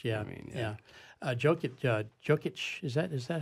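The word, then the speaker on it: Jokić: Jokic, is that how you pronounce his name? Yes. Jokic, yeah.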